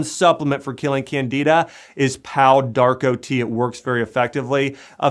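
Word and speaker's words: Pau d'Arco: in a tea form drinking three glasses of pow Darko tea a day and pal Darko that's spelled p-a-u space Darko d-a-r-c-o pow Darko T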